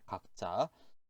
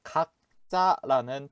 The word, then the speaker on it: 각자: 여러분들 각자 뜻 확인해 주세요. 자, 첫 번째 단어 읽어볼게요. 각자, 각자. 자, 이 단어도 마찬가지로 읽으실 때에는 각자로 읽어 주셔야 돼요. 쓸 때에는 각자, 읽을 때에는 각자라고 읽어 주세요. 자, 두 번째 단어 보도록 할게요.